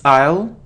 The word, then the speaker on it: aisle: guitar so the stress is on the second syllable guitar it isn't easel or I so it's aisle aisle okay so it isn't effective its effective